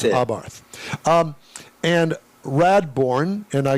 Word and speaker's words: Abarth: the pronunciation because you know there are people that go oh it's Abarth. No it's not. It's Abarth.